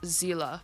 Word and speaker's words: Seele: I thought it was Sealy for a very long time but apparently the name is German so it's pronounced Zila from what I've seen